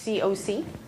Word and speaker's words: COC: It's pronounced COC, not cock, just to clear up confusion.